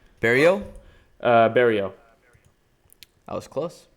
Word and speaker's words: Barriault: Before that, you had Azaitar versus, how do you pronounce his name? Barriault? Barriault. I was close. Barriault.